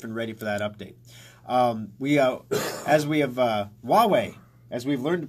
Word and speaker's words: Huawei: Huawei, as we've learned to pronounce in the previous few shows, Huawei, the Chinese cell phone company, busted for cheating in benchmarking tests.